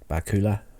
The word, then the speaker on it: Bakula: Sam Beckett, Scott Bakula, although I've heard his name been pronounced Bakula, but I like to say Bakula because it sounds like Dracula.